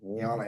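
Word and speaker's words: Jnana: It's not spelled like it sounds. pronounced nana nyana yoga.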